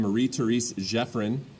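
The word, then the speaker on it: Marie Thérèse Geoffrin: therese jeffrin is how you say her name marie therese jeffrin and she used to hold salons um basically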